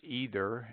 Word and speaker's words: either: would seem for taking either way but favor seems to lean towards either and neither though following the analogy